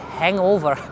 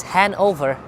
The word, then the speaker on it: Hanover: this is Hanover Street sometimes I make a funny pronunciation I call it hangover in a funny way but this is hand over most of the business